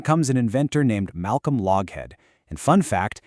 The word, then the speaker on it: Loughead: And then, along comes an inventor named Malcolm Loughead. And fun fact, he later changed the spelling of his name to Lockheed. Yeah, that Lockheed, so people would pronounce it correctly.